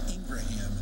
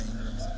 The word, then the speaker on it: Ingram: I've heard his name pronounced Josiah Abraham and Josiah Ingraham. Yeah. To me, it seems pretty simple. Josiah Ingram.